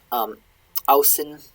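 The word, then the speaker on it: ausinn: They didn't really differentiate in the manuscripts very often, but it is pronounced differently. Ausin odreri.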